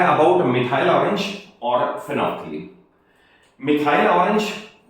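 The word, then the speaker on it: phenolphthalein: And what about फिनोफ्थलीन इसकी spelling देख phenol फथालीन है बट बोला जाएगा फिनोफ्थलीन।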